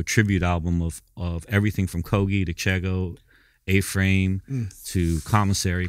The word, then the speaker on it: Kogi: It's Kogi. Oh, Kogi with a hard G.